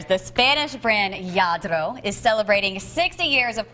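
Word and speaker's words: Lladró: practicing my spanish here yadro did i say it right you did rolling my r the spanish brand yadro is celebrating 60 years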